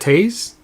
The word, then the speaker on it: Toews: to Mike Michael Hayes no you pronounce that taste tio EWS I guess I'm not gonna remember